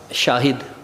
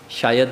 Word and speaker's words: شاہد: ایک تلفظ درست کرایا، میں بات کروں گا شاہد، شاید نہیں ہے، ٹھیک ہے، کہ تاریخ شاہد ہے۔ اس طرح پرچار کرنا،